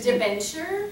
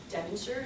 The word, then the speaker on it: debenture: going to teach it to you, which is debenture. What? They can't help themselves, you know? Just say it again. It just debenture?